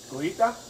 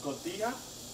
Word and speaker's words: Cotija: Cojita? Cojita? Cojita. Really? J is gonna be silent. But it's T-I-J-A. So it's Cotija?